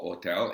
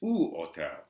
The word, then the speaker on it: hotel: in fact an U it's not o Hotel it's otel uh it's not you